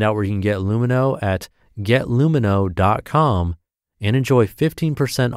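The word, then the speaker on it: Lumineux: Lumino, spelled L-U-M-I-N-E-U-X, is the first oral care line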